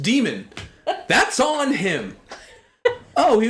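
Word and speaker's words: dæmon: Well, maybe he shouldn't have put an A in Damon if he wanted it pronounced demon.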